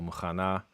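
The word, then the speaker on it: מוכנה: So they highlight in red the stress syllable muchana.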